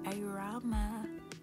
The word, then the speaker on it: Aroma: The aroma, that actually rhymes with my name, aroma. So if you were wondering how to say my name, yes, you say it aroma.